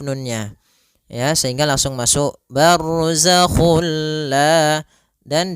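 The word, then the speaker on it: برزخ: ya Sehingga langsung masuk barzak dan dia bila gunah berarti tidak boleh disertai dengan gunah tidak boleh ada penahanan tidak boleh bar gak boleh tapi langsung saja bar Kemudian pada lafal La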